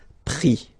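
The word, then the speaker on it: pris: And then prendre, so e-n-d-r-e, will give es, prix, okay. Same thing here, we don't pronounce the final s, okay. So let's see that again.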